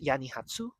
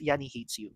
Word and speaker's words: yanihatesu: Actually, it's it's pronounced Yanni Hatsu, but like in my head I read it as Yanni Hates You, but like that's not it. It's Hatsu, not Hates You.